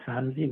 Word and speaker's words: Samedi: is spelled m-a-c-k-n-z-y and my last name is Sanji which is spelled s-a-m-e-d-i the E silent my first name means